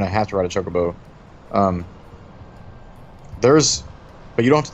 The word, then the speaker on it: Chocobo: I know it's Chocobo, but I've called it Kokobo from a very early age, so... It's not even Chocobo. You still can't pronounce it.